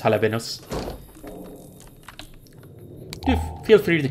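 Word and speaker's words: jalapeños: but I think it's jalapenos. Feel free to correct me if I'm wrong. I'm pretty bad at pronouncing certain Spanish words here and there. I think J is pronounced kind of H.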